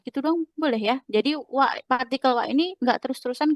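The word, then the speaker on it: は: Tapi kalau dalam partikel kita bukan baca H melainkan wa.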